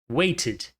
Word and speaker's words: waited: Waited, waited. Então você notou o que aconteceu? Eu não falei needed. Eu não falei wanted, waited. Esse E não é pronunciado como um E.